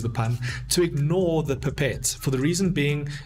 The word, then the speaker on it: pipette: call a pipette right it's pronounced differently in different spaces in the world some people call it pippets some people call pipettes whatever pipettes that's what i call it all right that